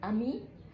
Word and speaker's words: ami: فلما لو انا مثلا عندي كلمة امي عايزة اخليها كلمة مؤنثة بضيف لها حرف الاي. النطق ما بيختلفش، بتفضل امي مذكر امي مؤنث.